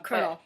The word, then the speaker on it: colonel: it mispronounce it um Colonel Colonel Colonel cut like a corn corn corn corn kernel look like the game